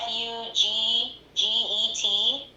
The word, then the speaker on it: Fugget: It's spelled like F-U-G-G-E-T, like fugget. Mhm. Like forget about it.